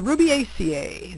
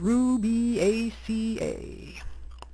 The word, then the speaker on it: Rubiaceae: the Ruby ACA the coffee family phonetically spelled Ruby ACA characteristics of the Ruby